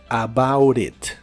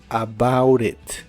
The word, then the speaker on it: about it: rápido en inglés americano la t de about la pronuncias como r about it about it y usaremos la frase